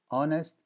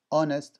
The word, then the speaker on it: honest: H, hate, honest, hope. Hate, hate, honest, honest, as you can see, there is no H.